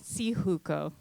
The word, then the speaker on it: Syjuco: public and then lastly that's the pronunciation of my last name so see hukou alright so as a